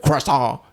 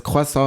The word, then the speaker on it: croissant: cant and I will pronounce it like Tasha pronounce it cant cuz she's from America and she pronounces it this wayas she's gonna kill me uh oh the real pronunciation is quasa and I've been telling her this since I